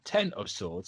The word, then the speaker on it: X of Swords: The title pronounced 10 of Swords. So if anyone goes, it's X, it's not 10, like they did with me when Hoxpox was coming out, you can delete that comment.